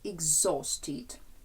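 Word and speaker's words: exhausted: частині с в табличці ми казали exusted знов таки наголос падає куди на о exusted пам'ятаємо що наголоси ми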